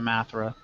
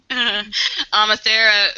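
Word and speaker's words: Amathera: but EMA amea I I had pronounced it athra but you know athera who is actually being held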